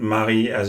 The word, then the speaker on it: Marie: isn't really the way it's pronounced, because he pronounces it again as an Englishman, Marie, and not Marie as it's supposed to be in French.